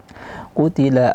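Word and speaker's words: قُتِلَ: Sya Mas Mas Mashud qutila Ashabul ukhdud ayat selanjutnya qutila qu tebal Ti tipis lam tipis ta tipis lam tipis qutila tidak boleh juga berlebihan dalam pengucapan Hamas huruf ta qutila qutila tidak begitu kemudian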